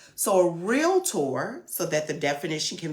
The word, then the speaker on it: REALTOR: real realtor it is real tour there is no a in between the r e a l t o r between the l and the t no a so a real tour so that the definition